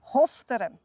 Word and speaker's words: Hochdorf: Deswegen Hochdorf. Das heisst Hofteren.